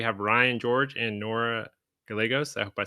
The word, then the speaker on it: Gallegos: Today we have Ryan George and Nora Gallegos. I hope I said that right. Yeah, With it's Gallegos. What was that? It's pronounced Gallegos.